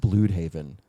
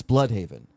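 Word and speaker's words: Blüdhaven: The way he pronounced Blude Haven, it's Blood Haven.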